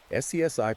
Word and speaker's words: SCSI: For those who don't remember, SCSI pronounced SCSI was a way to daisychain multiple external hard drives or scanners together, but it wasn't plug-andplay.